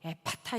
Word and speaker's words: 에파타: 영적인 언어 이것은 바로 에파타 있니다 사용하신 그 말 그대로 명령하신 그 명령 그대로 예수님이 하셨던 발음 그대로 에파타 이렇게 외쳐야 된다는 거예요 초대교회 신앙인들도 모든 막힌